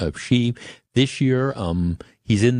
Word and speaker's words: Xi: is the Chinese president I think you pronounce it she this year um he's